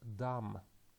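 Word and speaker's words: דם: hand okay next word the first consonant is dalit and we can translate it as d the vowel is commits and we can just iterate it as R and the final consonant is mm and it sounds as M so the the word we can read the word as dumb and the meaning call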